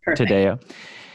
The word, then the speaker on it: Taddeo: have a special guest on the podcast Lisa today how am i pronouncing that right - today today oh yes today she has written a book called three women